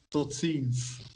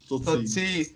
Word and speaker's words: Tot ziens: Tot ziens. Tot ziens.